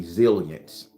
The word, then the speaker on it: zilliance: So the word today is going to be zilliance. Zilliance. Just like it's spelled, just like resilience.